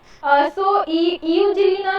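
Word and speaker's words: Euglena: यूजलीना, यूजलीना नहीं है, इसको यूजलीना बोलते हैं, ई साइलेंट है।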